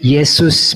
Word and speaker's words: Yesus: J diucapkan Belanda, Y. Karena Belanda yang membawa juga Bible-nya diterjemahkan ke dalam bahasa Melayu rendah menjadi Yesus pengucapannya.